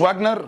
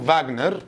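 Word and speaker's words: Wagner: خلاص، هو ما اسموش واجنر، هو اسمه فاجنر لانه هو الماني، والدبليو في الالماني بتتنطق في زي عربيه الفولكس فاجن كده مثلا، هي دبليو في والاثنين بيتنطقوا في، فولكس فاجن دي عربيه الشعب يعني. ده اسمه فاجنر، اسمه يلا فاجنر.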